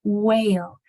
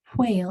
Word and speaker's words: quail: you blow it and so when you say Quil then you'll hear that there's not whale we say whale a lot just because we speak lazily but the proper way to say Quail is with that blowing at the beginning so when you come